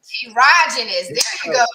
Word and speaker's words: Erogenous: So ERO is Eros. It's part of Eros. So Erogenous Coach. Erogenous.